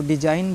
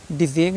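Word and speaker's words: design: आई जी एन है जी क्या है साइलेंट है हमको डिजाइन बोलना है ना डिगन नहीं बोलना है इसमें रिजाइन बोलना है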